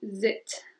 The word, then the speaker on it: êtes: De ahí va a ser vous êtes. Vous êtes. otra vez la liaison y no se pronuncia la S al final.